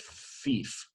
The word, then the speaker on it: fief: We'll go with fief. All right, long E. All right, pronounced fief. F-I-E-F.